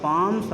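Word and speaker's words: palm: क्योंकि फॉर ऑन द पाम्स ऑफ the child, क्योंकि बच्चे के हथेली पर, पाम मीन्स होता है हथेली, यल साइलेंट हो गया है, बच्चे के हथेली पर,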